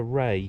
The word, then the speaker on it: Rea: great this uh board puts me right on the pronunciation of this River it's the river Ray lifford hazelwell and dogpool